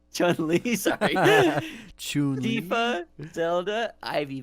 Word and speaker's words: Chun-Li: Okay, we got Lara Croft, we got Princess Peach, Chu-Li, Alex from Don't even have to say her name. It's Chun-Li, sorry.